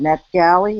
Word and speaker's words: NetGalley: And then I read in the Edmodo group about, what is it, NetGalley?